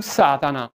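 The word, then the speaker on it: שָׂטָן: Da quel momento Lucifero cambiò nome, il suo nuovo nome fu Satana, che nella lingua ebraica si pronuncia Satan, che significa avversario, nemico,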